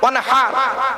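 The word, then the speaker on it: وانحر: ইন্না আতাইনাকাল কাউসার ফাসাল্লি লিরাব্বিকা ওয়ানহার, ওয়ানহার গায়হুতি, এই গলার ভেতর থেকে হেটা উচ্চারণ করবেন।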